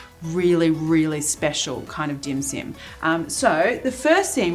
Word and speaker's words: dim sim: an explainer on a dim sim because a dim sim not to be confused with dim sum i'm not mispronouncing it a dim sim is